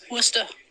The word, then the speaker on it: Worcester: So very conveniently, I got really lucky in life, and I just want you to know, Worcester is the correct pronunciation of that.